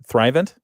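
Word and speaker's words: Thrivent: That happens at uh at 3 PM and Thrivant, is that how you say it? Thrivant Financial. Yep. Thrivant Financial.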